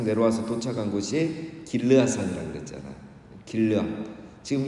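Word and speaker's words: גִּלְעָד: 정확히 발음하면 갈르엣은 그 갈르에드입니다. 갈르에드. 그리고 길르앗은 정확하게 발음하면 길르아드. 그러니까 비슷하죠. 갈르에드, 길르아드.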